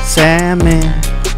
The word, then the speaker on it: salmon: Don't pronounce the L. Say that sad man. Salmon.